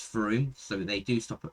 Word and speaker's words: Frome: It's not Frome, it is Frome, so they do stop at the most mispronounced place in the UK.